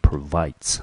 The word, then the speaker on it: provide: 好，所以呢来追求他们所谓的正义。好，透过言论自由，嚷着言论自由，但是呢他们却去伤害别人。好，接下来他说 Netizens should avoid doing these things so that everyone can enjoy the convenience that the internet provides。